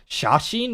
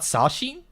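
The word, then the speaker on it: 写真: So, oh here in this context it's sash shashin not sashin dude my vocabulary shot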